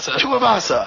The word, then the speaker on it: Tuivasa: Hey, and what is Tuivasa? How do you pronounce his last name? Tuivasa.